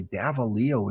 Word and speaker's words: Davalillo: do it davalio okay davalillo is the pronunciation and the game is